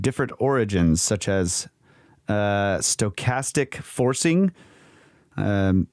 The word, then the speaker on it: stochastic: origins such as uh stochastic forcing um i think that's how you pronounce it s-t-o-c-h a-s-t-i-c that's right stochastic forcing generated by local